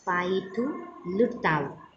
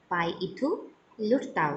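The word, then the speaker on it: Pyithu Hluttaw: सो Myanmar का है पाइथुलुताउ. This is the parliament of Myanmar. पाइथुलुताउ. यहाँ पर H साइलेंट है, यहाँ H का साउंड नहीं लेना है, L का लेना है.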